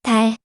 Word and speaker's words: 달: When the consonant leo comes at the end of a syllable, an L sound is made. As you know, it's da. When adding the consonant leo to it, it becomes 달. 달 means moon in English.